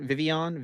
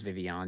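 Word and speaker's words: Vivillon: It is Vivian. Yeah. You just don't pronounce either of the L's. It's French. Vivian.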